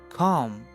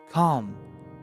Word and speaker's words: calm: in a good way the word number four calm calm don't say calm calm the word ill is silent calm when someone is calm they do not get